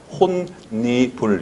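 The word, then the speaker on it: 홑이불: 비음화가 돼서 혼니불 이렇게 발음이 되죠.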